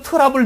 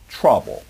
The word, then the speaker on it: trouble: 그러니까 너 이렇게 자꾸 트러블 메이커니 그러면 안 되고 trouble 이렇게 발음해 주셔야 됩니다.